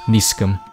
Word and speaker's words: isakum: The title of Koseogun was soon abandoned in Silla, however, and replaced by Isagum, at the time pronounced Nisgum.